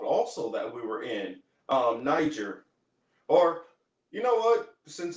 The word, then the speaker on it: Niger: If you go into the actual the where this word derives from, Niger, there is no soft G in Latin. It's a gur sound.